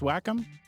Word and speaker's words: Wacom: You know it's pronounced Wacom?